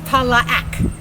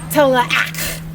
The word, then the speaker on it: Tallac: Back then it's 3 syllables, Tallac. And it's a guttural sound. So up to the top of Tallac.